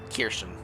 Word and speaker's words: Kirschen: The pronunciation is spelled Keerkhehn. Kirschen.